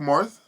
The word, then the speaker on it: Marth: spell it like marth yeah but you don't pronounce the h what's up with that no i say i say marth oh you do yeah oh i mean i